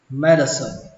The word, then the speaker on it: medicine: Y học đọc là medicine, medicine. Nó ghi ở đây âm c nhưng mà cách đọc của nó là âm s, medicine, medicine.